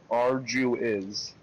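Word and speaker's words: Arguys: How do you say the other one? Arginus. Arduous. A-R-G-U-Y-S. Arduous. Arduous.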